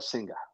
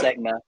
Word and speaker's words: Senga: Most particularly, Kodai Senga, right? Did I pronounce it? Mm-hmm. Close, Segna, right?